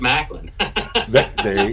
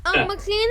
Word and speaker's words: McLean: I thought it was Macklin. Yeah, McLean is correct. Macklin is the most common mistake.